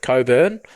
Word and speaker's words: Cockburn: There's one, I think they've started digging holes in West Oz, in the suburb of Coburn. It's spelt Cockburn.